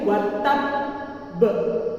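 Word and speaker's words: تبّ: Cara bacanya yakni watab be. Nah, tak di sini ditahan di huruf ba. Watab kemudian dijeda agak beberapa detik, kemudian dipantulkanlah huruf ba. Watab be.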